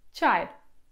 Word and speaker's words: çay: I znowu to jest dźwięk pomiędzy naszym polskim czy i ci. I znowu na początku, jeżeli będziecie czytać ten dźwięk jako czy albo jako ci, nic się nie stanie. Turcy w ogóle zazwyczaj nie słyszą różnicy między tymi dwoma polskimi dźwiękami, więc nie ma problemu, ale generalnie idealny dźwięk to jest coś pomiędzy.